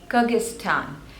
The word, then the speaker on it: Kyrgyzstan: away next is Kyrgyzstan Kyrgyzstan and there are three syllables the stress is on the second one Kyrgyzstan Kyrgyzstan Kyrgyzstan next